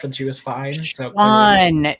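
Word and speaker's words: Siuan: So Swan. It's like Swan. Swan, but with like a little Swan. sh in there. Swan. Yeah, or just Swan, I guess.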